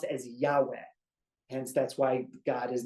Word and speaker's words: Yahweh: then V and then a he that's literally pronounced as Yahweh hence that's why God is name is Yahweh